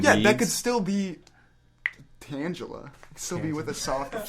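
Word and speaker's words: Tangela: Pokemon we're talking about it's pronounced tangula in Pokemon oh tangula no it's not it's not I pronounced it wrong this whole time tangula Tanga it could be either one how do you guys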